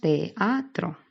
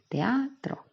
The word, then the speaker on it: teatro: Teatro tiene 3 sílabas, porque la E y la A, como son dos vocales abiertas, no forman una sola sílaba. Diríamos teatro normalmente. Lo que pasa que en el verso tendría 2 sílabas la palabra teatro porque aplicamos la sinéresis, si lo necesitamos para esa cadencia del verso, ¿vale? Entonces sería teatro.